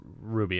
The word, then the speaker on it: RWBY: every season rwr wife I believe it's pronounced Ruby and Jen locket about